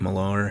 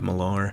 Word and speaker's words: Millar: man logan by mark millar that's how i've always pronounced his name it could just be simply mark miller but since there's an a in there i've always said mark milar old man logan is